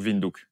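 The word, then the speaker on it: Windhoek: namibiie windinduk ah ouais ça se prononce à la Hollandaise un peu sin non ça pourrait sonner un peu hek c'est le corner en anglais enfin c'est le coin et beaucoup de villes comme ça c'est de l'africanur en fait c'est la langue des blancs namibi Afrique du Sud et et donc ça se prononce ou donc vindou les africanur que vous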